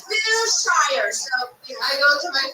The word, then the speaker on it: Wilshire: Wilshire? We must go to the Wilshire. I think Wilshire is where Magneto's parents were born. Everybody says Wilshire. It's Wilshire.